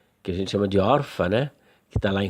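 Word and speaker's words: עָרְפָּה: Porque Or é uma sílaba e Pá é outra sílaba. Orpá. Orpá. E por que é Or? Justamente por conta desta regra do Kametz Katan.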